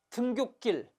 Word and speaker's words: 등굣길: 등굣길로 발음됐죠?